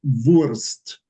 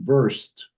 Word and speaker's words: Wurst: So it's really more of a W sound in that word, not the V. The W is a W. Okay, so it's wir werden Wurst. you're still pronouncing most of your vowels as you do in the English.